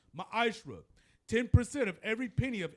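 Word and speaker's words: מעשר: Means tenth in the Hebrew is pronounced ma'ashra.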